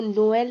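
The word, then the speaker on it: Noël: तो थ्रेमा होता क्या है, ट्रेमा ये है कि जब दो वॉवल्स आसपास हैं, मतलब अगल बगल में हैं, तो दोनों वॉवल्स का प्रोनाउंसिएशन किया जाएगा और जो ट्रेमा है वो दूसरे वॉवल के ऊपर आएगा।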